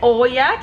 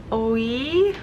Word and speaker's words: Oia: We're gonna go to, I said Oya to the lady downstairs and she said that's wrong. It's not pronounced Oya, it's pronounced like Oi, something like that.